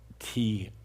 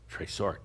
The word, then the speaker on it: trésort: It's T-R-E-S-O-R-T, tresort. And there's a little dash above the E, tresort.